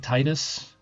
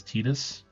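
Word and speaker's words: Tidus: It looks like Titus. Official pronunciation for this one I know is Tetus.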